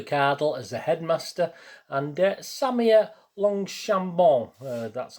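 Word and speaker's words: Samia Longchambon: benefactor job the cardinal as a headmaster and samia longshambo that's how you pronounce it of course she was i remember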